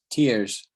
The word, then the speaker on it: tiers: So it sounds the same as the tears when you're crying, but it's obviously a different thing.